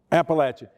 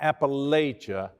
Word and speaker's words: Appalachia: can you say appalachian it's not appalachia it's appalachia and i guess that that's one of my my my concerns about people okay here's here's how you say it appalachia it's it's like okay i've got this piece of fruit right and i'm going to throw i'm going to throw an appalachia you get that raised